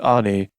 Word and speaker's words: Ani: And his twin sister Ani, pronounced Ani, note this is just theoretical.